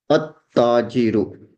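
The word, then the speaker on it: التاجر: When there is a ta and we attach alif lam, then we will not pronounce the lam of the alif and lam. At-tajiru. We will pronounce it at-tajiru.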